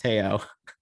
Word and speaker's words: Teo: And he's gonna totally hate me I was calling him Tao for the longest time, and I finally realized his name is actually pronounced Teo. Is it really? Yeah, it's actually Teo. It's not Tao.